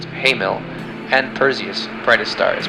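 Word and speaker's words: Hamal: Ares' brightest star is pronounced Hamil, and Perseus' brightest star is pronounced Alpha Persei.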